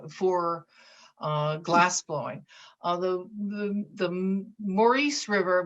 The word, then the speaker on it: Maurice: uh glassblowing although the maurice river which is maurice but look locally pronounced morris river has some of the